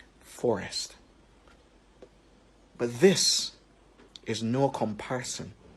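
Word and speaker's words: Sssst: 4 3 2 1 this child's name is Forest get it Forest it has four S's and a t Forest but this is no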